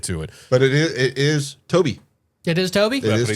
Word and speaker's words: Tobe: But it says it's pronounced That like sounds Toby.